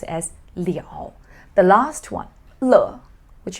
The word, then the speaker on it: 了: the ability belie all so you have to pronounce it as leo the last one le which is used to